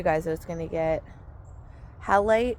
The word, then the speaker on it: halite: Oh, and what I told you guys I was gonna get, halite. It's actually halite. So I think I was pronouncing it wrong.